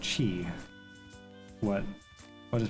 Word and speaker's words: Qi: Also, it's probably pronounced chi.